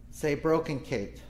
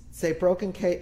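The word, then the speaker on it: צעבראָכנקייט: feelings of ambiguous loss say broken kate say broken kate has an approximate english cognate brokenness if that helps you latch on to these four consonant-rich syllables and um sorry i'm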